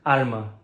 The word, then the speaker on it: arma: Arma, weapon, is pronounced like alma, soul.